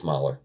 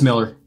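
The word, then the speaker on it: Millar: I think it's Mylar. It's Miller. Is it Miller? It is Miller.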